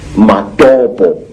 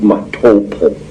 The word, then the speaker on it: Matopo: And one of these parts of Africa, say, is a remarkable place called the Mountains of the Round Rocks, Matopo, wrongly pronounced Matopo, in Zimbabwe.